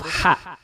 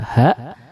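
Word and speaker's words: ح: Nah, huruf ha ini membacanya sangat bersih. Ya, dia tidak menggetarkan dada seperti huruf H, tapi dia tidak serak seperti huruf Kha.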